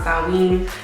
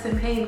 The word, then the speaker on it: Samhain: And yes, I said Samhain because that is how it's spelled, and don't argue with me.